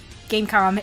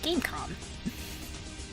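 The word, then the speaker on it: Game.com: Gamecom is pronounced without the dot. I see. Gamecom.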